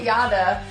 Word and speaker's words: Aydah: I think you got it, Aydah. Because her name is spelled A-Y-D-A-H. But you don't pronounce the H whenever you say Aydah.